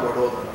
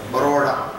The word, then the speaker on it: Vadodara: So Vata Udara Vadodara. English people, because they doesn't know properly pronounce, they are called Baroda.